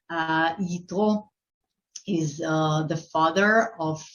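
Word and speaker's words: Yitro: hebrew uh way to say his name uh ito is uh the father of uh the wife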